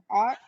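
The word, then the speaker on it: aught: The sizes ranges from numbers below 0, pronounced ought, to numbers above the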